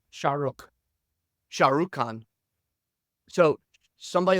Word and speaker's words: Shah Rukh: Shah Rukh.